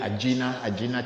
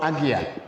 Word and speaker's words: Ajna: It's called Agya in Sanskrit. So you have that one here, the Agya chakra, and then the